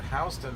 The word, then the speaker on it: Houston: It's the name of a guy named Mr. Houston, and that's how he pronounced it. It was spelled Houston.